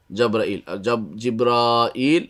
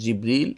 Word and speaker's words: জিবরিল: তবে জিবরিল বা জাব্রাইল জিব্রাইল এভাবে বর্ণনাটা খুব শুদ্ধ নয়, এটা আমাদের দেশে খুব প্রচলিত জিব্রাইল। তবে সদর জিবরিল অথবা জাবরিল অথবা জাব্রাইল, কিন্তু জিব্রাইলটা বেশি শুদ্ধ নয়, তবে সেটা আমাদের দেশে প্রচলিত আছে।